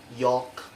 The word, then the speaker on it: yolk: with the vector l the letter l on s1 rule that is usually not pronounced after the foul of the letter a o and u for examples like calf yolk and also there's other examples